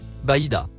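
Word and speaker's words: بيضاء: mot en surbrillance jaune se prononce Baida il a été interprété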